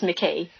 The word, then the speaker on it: McCay: Dr McCay or McCay? It's McCay. McCay, I above anybody should know how to pronounce these names, but there we are.